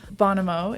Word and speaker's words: Bonamo: Bonamo is the name of your band, right?